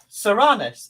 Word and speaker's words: Soranus: That bloke, he's called Soranus, and that's spelled. Do you want to know how to spell it to look him up? It's spelled like sore anus.